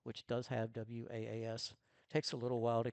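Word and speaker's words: WAAS: It's pronounced was just like boss or moss.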